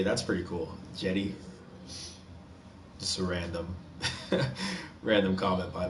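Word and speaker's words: Cedi: It's spelled C-E-D-Y. I mean C-E-D-I, but pronounced like it's a J. That's pretty cool. Jetty.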